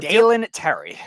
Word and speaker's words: Dalen Terry: thoughts and uh it so how do you pronounce the name? It was Dalen or Dalen Terry.